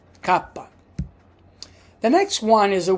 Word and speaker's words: kappa: The next one is kapa. Kapa. That's how we pronounce kapa. Like kimono. We say for example kappa.